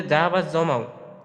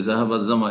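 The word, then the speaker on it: ذهب الظمأ: এই দোয়াটি ওটা তো এক জায়গায় বলেছেন যে জাহাবাজ জমাও, অন্য হুম। একটা লেকচারে আপনি বলেছেন যে জাহাবাজ জমা হবে উচ্চারণ। শেখ, জামা, হ্যাঁ, এই শুদ্ধ বিষয়টা জামা। ক্লিয়ার করবেন। জি জি, জাহাবা জামা এটাই শুদ্ধ।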